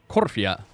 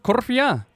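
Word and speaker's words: Korthia: There's no accent or stress in the I on Cortia, so it's Corfia. Is it Corfia? Is that the way you pronounce it? Corfia?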